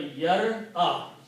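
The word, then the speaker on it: يرى: And now if you notice that you have a yar-a, okay, for the ease of pronunciation, it is the sound of fatha is moved back, so it becomes yara.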